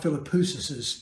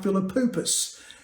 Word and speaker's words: Philippoussis: I got Mark Philippoussis' pronunciation completely backside up. I called him Mark Philippoupus.